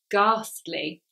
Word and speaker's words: ghastly: 57 is ghastly Oh ghastly careful that H there is silent so ghastly means horrible or frightening or scary it's very negative so if you say it was a ghastly experience it means it